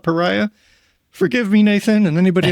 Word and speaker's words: Paria: I think it's Pereia River, not Pariah.